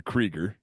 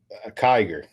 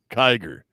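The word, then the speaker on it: Kiger: now you also do the creger right am I pronouncing that right the creger Kyer Kyer yep fair enough and the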